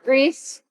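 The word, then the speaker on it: Gries: Greece. How do you spell it?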